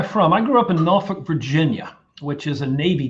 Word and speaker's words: Norfolk: I am third generation Norfolk, and I pronounce that correctly.